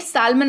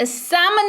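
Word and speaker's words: salmon: मुझे वहीं एक प्लेट सालमन मछली देना आ गलत मुझे एक प्लेट सामन मछली देना क्या देना सा मंत्र क्योंकि जो है वह क्या है L को तुमने भूल गए हमने चैनल को हमने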